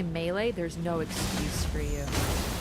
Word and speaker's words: melee: Technically is melee, but like who I what do I care? Well, technically it's like probably like more French because it's French.